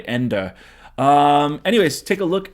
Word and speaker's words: Ende: kind of funny that his name is michael end uh but this is supposed to be the never ending story although michael and and is german so it's probably pronounced that way ender um anyways take a